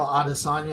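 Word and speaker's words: Adesanya: Is it Israel Adisagna? Am I pronouncing that right?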